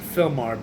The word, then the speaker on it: Sylmar: I think they pronounce it Fillmar, but it's spelled Sylmar.